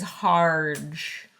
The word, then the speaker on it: Harge: Waterloo and that guy's name is Harge which rhymes with large which also rhymes with Sarge so North Star Lodge